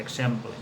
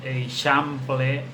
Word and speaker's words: exemple: és la forma correcta, exemple. Però que en el carrer pronunciem de mil maneres diferents, que no estan acceptades. Exemple, eixample, example, aquestes formes no estan acceptades.